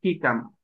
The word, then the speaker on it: jícama: pepino, y shigamah, la jícama. ¿Sí? Recordemos, los españoles no podían pronunciar la SH y ¿qué hicieron? La cambiaron a J. Jícama. ¿Sí? Y ahora decimos jícama.